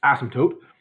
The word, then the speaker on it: asymptote: a simple tote and I'm over over pronouncing its asymptotes I want you to notice that last consonant right there is it t and not a P a huge number of